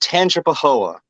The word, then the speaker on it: Tangipahoa: Yeah, that was that is pronounced Tangipahoa.